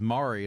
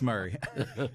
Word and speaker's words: Murray: okay Franklin 3600 um Murray County that that's how it's pronounced here right I got a I got to figure these counties out I heard a joke though one time it was Mari instead of Murray that was a fun